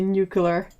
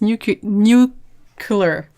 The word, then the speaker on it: nuclear: I can't not see nuclear how how did it how did it get to be pronounced new color I can't that's a